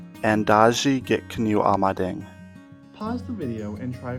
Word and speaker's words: Endazhi-gikinoo'amaading: Could you try to pronounce it? Endazhi-gikinoo'amaading. Endazhi-gikinoo'amaading.